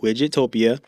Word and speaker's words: Widgetopia: It is spelled exactly the way I said it, Widgetopia.